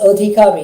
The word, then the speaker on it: Adhikari: church, namely Reverend Abir, written Adhikari but pronounced Adhikari in Bengali, Reverend Adhikari, even though the service was in English.